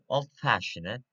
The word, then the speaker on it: old-fashioned: As you can see, uh, uh, stress at the second syllable, fash, old-fashioned.